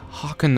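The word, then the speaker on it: Haakon: was pronouncing it right I hope it's pronounced Hawk as in a bird on turn your Hawk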